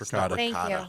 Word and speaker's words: ricotta: I I have this thing where now I have to add the the the vowel at the end otherwise people will I'm not going to say it like a fluent Italian person no matter what cuz I'm not born there. So what's the point? It's ricotta. It's ricotta, right?